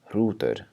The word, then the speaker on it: hrútur: And the next one is hrútur.